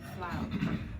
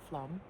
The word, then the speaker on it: Flåm: This is our first morning waking up in Flåm. I pronounced it wrong earlier. It's spelled f l a m, but it's pronounced the a like an o.